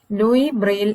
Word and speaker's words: Louis Braille: brain though it is written as lewis we pronounce it as louis louis braille invented braille script louis braille was born in